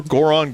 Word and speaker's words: Goron: If you want to hear more Goron gossip, head up to our city. No, Goron doesn't rhyme with moron for a reason.